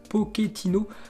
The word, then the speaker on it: Pochettino: toujours avec pochettino donc sur la prononciation de son nom il a dit cela dépend des pays en italie on prononce pochettino alors qu'en argentine on dit plutôt pauthe qui est hinault mais la prononciation française est compliqué donc je vous laisse la liberté de le prononcer comme vous le souhaitez donc moi tout simplement